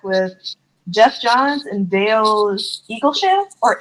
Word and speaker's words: Eaglesham: Jeff Johns and Dale Eaglesham or Eaglesham. How do you say that? Yeah. I Yeah, said Eagle Eagle Sham. Sham. Okay. It's Eagle Sham.